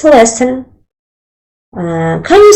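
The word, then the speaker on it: lesen: do say read in German I think it's lesson yes next sorry can you say say that again it's lesson how do you pronounce it spell that for me it's l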